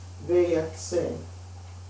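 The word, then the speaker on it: ויצא: The Parashat for next week is, it's, let me make sure I pronounce this correctly. Vayatse, and he went out.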